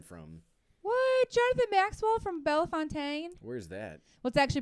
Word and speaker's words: Bellefontaine: to have been from why Jonathan Maxwell from belfontaine where's that what's actually pronounced Bellefontaine it is this itself so it's I think